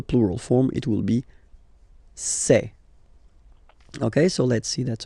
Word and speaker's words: c'est: And for the plural, c'est. Really open this c'est.